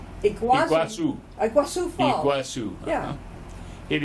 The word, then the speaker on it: Iguazu: Iguazu? Iguazu.